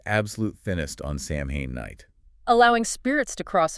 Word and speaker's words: Samhain: Pronounced Samhain, October 31st.